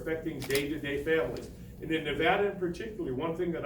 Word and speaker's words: Nevada: The first thing they need to do is to appeal to the people in Nevada is understand it's pronounced Nevada.